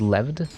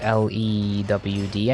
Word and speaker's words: lewd: leved or lewd mean, so I said leved because I didn't understand how to pronounce it, because it's just L-E-W-D, I think, lewd.